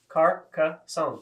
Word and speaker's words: Carcassonne: Carcassonne. Sure. Like croissant.